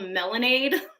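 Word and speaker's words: Melandeee: And it's called Melanade, kind of like lemonade, but Melanade.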